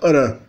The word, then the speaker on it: ran: A palavra ran, que é sol, geralmente é pronunciada aran.